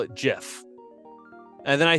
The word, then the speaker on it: GIF: I know call it gif and then I say I spelled the word gift I say how do you pronounce this word they say gift and then I take off the T and say now how